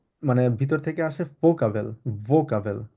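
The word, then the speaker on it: Vokabel: এখানে তো ভোকাবেল, আমরা কি ফোকাবেল বলতে পারি কিনা? আহ, এটা ভোকাবেল না, এটা আসলে অনেকটা ফাও। এটা যেহেতু মানে আমরা ইংলিশে ভি বলি, তো এটাকে আসলে ফোকাবেল না, এটাকে ভোকাবেলি বলে।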